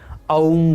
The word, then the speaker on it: ओम: जब आप ओम इस शब्द का उच्चारण करते हैं तब अंत में आप देखिए कि म का उच्चारण अनंत काल तक हो रहा है। ओम।